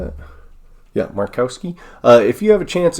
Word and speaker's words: Markowski: Yeah, Markowski.